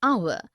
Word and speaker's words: hour: air an honest an hour because the words air honest and our begin with the vowel sound as the initial consonant h is not pronounced article 1 we use